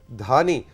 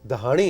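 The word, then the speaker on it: Dahani: जरीश इस्लामाबाद से, टीम में शाहनवाज धानी, और हमें अभी भी पता चला है कि करेक्ट प्रोनाउंसिएशन जो कि सिंध की कास्ट है दहानी है जी, ऐसा ही है दहानी।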